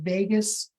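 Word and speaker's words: vagus: It's not spelled Vegas like Las Vegas. Um it's spelled v a gus like vot. All right. So it's the Vegas nerve.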